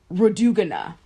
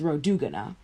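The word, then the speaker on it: Rhodogune: of Persian King Xerxes Road ooh Ghana that's how you say it her name is ro du guna and the inscription uh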